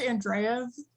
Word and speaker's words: Andrejev: It's pronounced Andreev, is how you Oh, say it. okay. And Andreev. Yeah, it's spelled Andrejev. So usually I just tell people to pronounce the J like a Y.